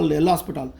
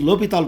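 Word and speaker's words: L'Hôpital: See, very difficult to pronounce it because for L'Hospital rule we should not call L'Hospital. It is L'Hopital rule, but we call L'Hospital.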